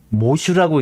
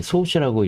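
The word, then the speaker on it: 喪主: 모슈라고 읽는다는 거 아니겠습니까? 이거 모슈. 일본어가 이렇습니다. 왜 이게 상자인데 소슈라고 읽지 않고 모슈라고 읽을까요?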